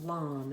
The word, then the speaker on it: lame: that i shared and he used a baker's lawn and that's spelled l-a-m-e and it basically is one of